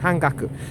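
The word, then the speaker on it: 半額: these things and that means it's pronounced han han Haku hanaku H hangaku in Japanese which means half price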